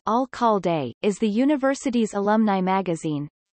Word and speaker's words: Alcalde: The Alcalde, founded in 1913 and pronounced Alcalde, is the university's alumni magazine.